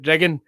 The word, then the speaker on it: Dreghorn: There's a place called Dreghorn, and everybody pronounces it Driggin, and it's like, I know. Okay, there's no silent G, but we'll go with it.